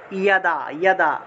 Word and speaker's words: যদা: তাহলে যদা উচ্চারণ না করে কি করব আমরা? ইয়াদা।